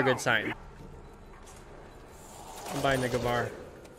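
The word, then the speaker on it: Gewehr: I'm buying the Gavar. It's called a Gewer when I was a kid. When I grew up, I realized that's not how you pronounce that.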